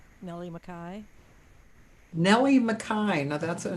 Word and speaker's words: McKay: i really like nellie mackay nellie mccain now that's a name i don't know mckay m-c-k-a-y but it's pronounced nellie makai oh that's like dave mackay okay and she lives